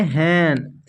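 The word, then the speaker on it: hen: चलिए देखते हैं, जब किसी वर्ड में दो कॉन्सोनेंट्स के बीच में ई रहता है तब ई का उच्चारण ए किया जाता है। एग्जाम्पल में देखिए, जैसे देन, हैन, देखिए दो कंसोनेंट है एच और एन, तो इसके बीच में ई आ रहा है, इसको पढ़ेंगे हैन।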